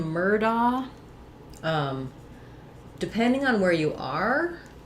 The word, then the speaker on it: Murdoch: in other people's names, Murdoch, they might use da here, that family used doc, with a hard k sound for the GH, Murdoch.